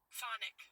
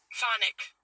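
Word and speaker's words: chthonic: The C is silent. It's got to be silence. Phonic. Phonic. C H T H O N I C.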